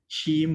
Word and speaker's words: CIIM: to the end of the book launch for sheem volume five yes that's right that's how you pronounce c-i-i-m-chim which in singlish means very complicated